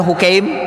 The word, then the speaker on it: Hakim: Dari hadis Hakim bin Hizam, ia berkata, ada yang bacanya Hukaim, ya, ada yang bacanya dengan tasghir Hukaim.